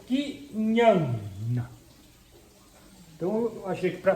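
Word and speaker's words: ज्ञान: Esse traço em cima do primeiro A significa que isso é essa sílaba atômica. E esse segundo A é quase mudo. Então é Kinhana.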